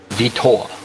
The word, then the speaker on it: Vitor: Benjamin gave us the proper way to pronunciate it. It's Vitor.